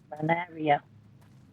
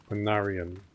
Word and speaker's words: Panarian: Banaria. Panarian. Like it ends with an N.